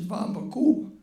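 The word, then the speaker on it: Vamvakou: And to end this on a lighter note, I want to tell my friend John that the pronunciation of my grandmother's village is Vambaku.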